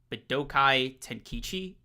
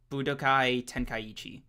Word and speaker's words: Budokai Tenkaichi: Okay, let me try to run that pronunciation back. Damn. Okay, Budokai Tenkaichi. There we go. Budokai Tenkaichi.